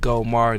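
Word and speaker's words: GeauxMar: Follow me on Instagram at GoMar. That's spelled Geaux. That is the Creole spelling.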